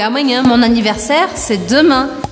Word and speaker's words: anniversaire: Anniversaire. Anniversaire, bastante similar. Terminou com E, eu corto na consoante anterior. Ou seja, que eu não vou pronunciar o E ao final da palavra.